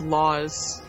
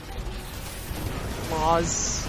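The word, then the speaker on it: Lasse: oh boy it's pronounced laws laws l a s s e is pronounced laws like the laws of the country that's what bragi says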